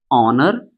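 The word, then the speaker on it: honor: तो यहां पर भी एच जो होता है वो साइलेंट होता है।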